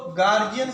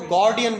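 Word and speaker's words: guardian: इसको गार्जियन कुछ लोग बोलते हैं, वो प्रोनाउंसिएशन गलत है, इसको गार्जियन नहीं कहते, इसको गार्डियन बोलते हैं, गार्डियन।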